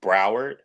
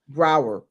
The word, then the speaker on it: Broward: Broward. Broward.